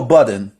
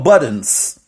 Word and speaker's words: Budden: People, they don't say Joe Budden. They say Joe Buddens.